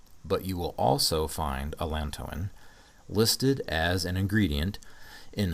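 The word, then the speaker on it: Allantoin: Plantain contains alantoin sometimes pronounced alantoine.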